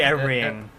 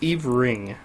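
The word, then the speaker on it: Everying!: That'd be everying. Everying. No, you drop the Y and the heart there. It's Eve Ring. Yeah, just pronounce it Eve Eve Ring.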